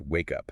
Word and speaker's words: wake up: The K in wake attaches to the U in up. It's pronounced wake up.